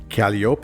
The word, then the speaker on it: calliope: There's a huge controversy about the pronunciation, isn't there? Calliope or calliope?